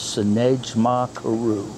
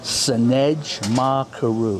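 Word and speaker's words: Sendej Maa Keru: Sinej Ma Karu. Sinej Ma Karu. Yes. Can you spell that for me? I'll spell it with vowels. S-E-N-D-E-J. That's Sinej. Ma is M-A-A. And Karu is K-E-R-U.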